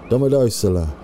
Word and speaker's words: Domodossola: Remember the pronunciation, Grand. Domodossola.